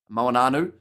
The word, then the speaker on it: Moanu: Moanu, that's how you pronounce his name, says there. Yeah, sometimes I get the N in the wrong place and end up just sounding like I'm singing a bit of Hey Jude with the N.